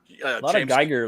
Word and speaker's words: Giger: um once again uh Geer like right there or Giger Geer however you want to pronounce it like it reminded